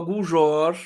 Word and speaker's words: Guljor: Vamos receber agora a Guljor. É assim que se pronuncia seu sobrenome, está correto? Guljor? Exatamente, É.